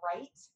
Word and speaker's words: write: about those silent letters, because it can be confusing why the word write, when you physically write something, has a W when it's an R sound, but that's a silent letter.